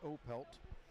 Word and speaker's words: Opelt: moments later it was colin opelt or opelt i should say pronunciat pronouncing it correctly opelt scored my power play